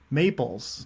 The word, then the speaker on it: Mayples: And I was just saying, this is the first time I've ever seen that name, otherwise known as AKA Mayples. Yeah, Am I pronouncing that correctly?